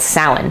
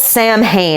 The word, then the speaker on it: Samhain: in from the fall, and that was called Samhain. It's spelt Samhain, it's not Samhain.